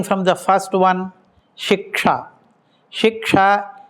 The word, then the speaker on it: Shiksha: Shiksha is sometimes pronounced as shika.